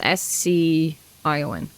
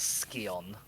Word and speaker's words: Scion: It's S-C-I-O-N. I believe it's supposed to be pronounced Scion, but That's the one I went for first. relatively often pronounce it as Skion.